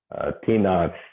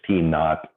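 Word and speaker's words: T₀: T naught, T0, or usually pronounced the Old English T naught for the starting time.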